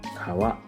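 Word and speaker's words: 川: Japanese reading or kunyomi river is pronounced as Kawa in man yoga this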